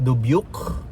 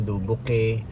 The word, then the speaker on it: Dubuque: So saglit lang kami dito sa Iowa which is dubuk. Yun ang tamang pronunciation. Akala namin dubuke.